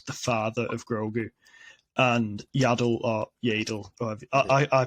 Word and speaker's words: Yaddle: that Yoda is the father of grogu and yadel I I pronounce it yaddle it's the mother so because they're the only